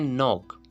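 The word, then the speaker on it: knock: इसी तरह फिर आपके पास वर्ड है नॉक, नॉक, नॉक means कटकटाना, नॉक। अब देखिए रूल क्या है, रूल ये है कि अगर एन से पहले क्या आएगा तो जो वर्ड के है वो साइलेंट हो जाएगा।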